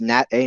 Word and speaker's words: NAT A: then nat a nada that's pronounced nat a north atlantic track alpha we're going to come